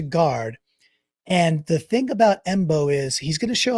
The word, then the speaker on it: Mbow: All right, so this guy, Marcus Embo, you pronounce it just like it spells it, MBOW. So right tackle from Purdue, again, projection that he could go into guard. And the thing about Embo is he's going to